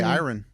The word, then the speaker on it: Iran: It's so interesting you say Iran and I say Iran. I used to say that too until I heard people I know it's that says this is a proper way to say it, but I said Iran, too. Probably until six months ago even. I say iron.